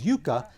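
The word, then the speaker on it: yucca: nuts the root of the yaka plant which natives pronounce as Yuka and even prickly pear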